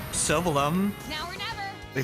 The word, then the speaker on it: Sylvalum: Then again, in Xenoblade Chronicles X, they stopped knowing how to pronounce Sylvalum. Now or never. They pronounce it Sylvaflum in the epilogue inexplicably.